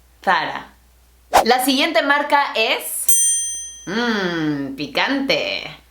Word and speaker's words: Zara: this correctly either because we pronounce the Z just like an S. We call it Zara. But the original is not Zara, definitely not Zara, but Zara.